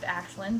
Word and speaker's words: Aislinn: main character's name is it's spelt Aislinn it's pronounced ashlynn the only reason I